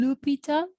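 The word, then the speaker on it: L'Hôpital: la regla de l'hospital algunos de punción como hospital este es una palabra en francés y se en algo común lupita pero como no se pronuncian lópez le vamos a decir lo hospital esta regla me sirve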